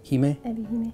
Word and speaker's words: Ebi-Hime: Ebi-Hime, yeah.